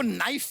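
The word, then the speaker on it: knife: सलमा जी आपको नाइफ word मालूम है? नाइफ, हाँ। उसमें शुरुआत में जो के होता है, हाँ। वो क्या है? साइलेंट।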